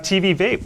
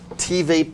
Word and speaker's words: TVape: for having me and T Vape would be the correct pronunciations but um I know it's a difficult name it is it is sort has TV and and vape sort of mix in one so I'm not I'm